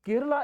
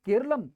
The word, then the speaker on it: केरलम: और केरला एक कहा जाए कि अंग्रेजी और विदेशी उच्चारण है केरला, जबकि केरलम यहां की मूलभूत अवधारणा है, इसलिए इसका नाम बदलना चाहते हैं।